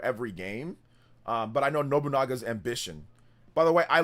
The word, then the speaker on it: Nobunaga: I'm not sure if that's going to be for every game, but I know Nobunaga's ambition. By the way, I love how Nintendo Prime said Nobunaga. I think he said Nobunga.